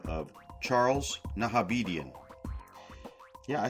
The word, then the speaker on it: Nahabedian: Recorded this episode May 8th, 2020, sober, with a very interesting gentleman by the name of Charles Nahabedian.